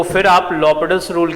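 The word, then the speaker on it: L'Hôpital's: हाँ, वैसे तो ऐसे लोग कहते हैं एल हॉस्पिटल्स रूल, लेकिन pronunciation is लॉपिटल्स rule. Pronunciation is लॉपिटल्स rule.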